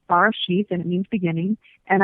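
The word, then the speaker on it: בראשית: But I took the Hebrew version from the Torah, and the first word is pronounced Barashith, and it means beginning.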